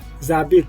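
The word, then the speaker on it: j'habite: अब देखिए यहाँ पे जाबित, इसमें एच का प्रोनाउंसिएशन फ्रेंच में नहीं करते हैं जनरली, अगर वो पहला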